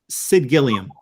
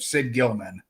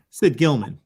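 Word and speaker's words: Gillman: know exactly who I Sid Gilliam uh correct I'll give you credit um even though you butchered the name horrendously of Sid Gilman Sid Gilman yeah yep all right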